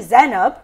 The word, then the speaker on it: Zainab: Z is actually Zainab, right?